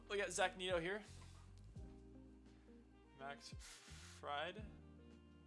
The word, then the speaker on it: Max Fried: Max Fried, that's how to pronounce his name, is going to be pitching today.